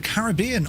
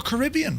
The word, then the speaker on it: Caribbean: We're flying in the Caribbean or Caribbean for those, you know, uh, who pronounce it the wrong way.